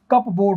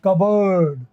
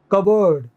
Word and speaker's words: cupboard: देखना आप लोग, जैसे CUPBOARD, आम आदमी क्या लगेगा, CUP कप और BOARD बोर्ड, तो ये क्या होना चाहिए, कप बोर्ड होना चाहिए, बट होता क्या है, ये कबर्ड। क्या होता है दोस्तों, कबर्ड। CUPBOARD कबर्ड होता है, कबर्ड, अलमारी, कबर्ड। P और R यहाँ क्या होते हैं, साइलेंट होते हैं। P भी साइलेंट है, कप बोर्ड नहीं, और